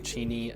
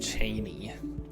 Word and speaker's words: Cheney: So if you end up checking out EWU football game, make sure you're visiting Cheney, not Cheney. Lastly, and honestly the most important, is knowing how to pronounce Spokane's nationally recognized college basketball team, Gonzaga.